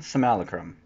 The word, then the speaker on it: simulacrum: simulcram some Alec rum sold them simulacrum that's officially how you say it if you say it different you're a noob got some Liliana's defo tea foil I'm guessing mr.